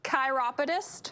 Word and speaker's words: chiropodist: chiropodist treat chiropodist tropidis chiropodist how do you spell it c-h-i-r-o-p-o-d-i-s so if you think like chiropractor chiropodist yeah um what does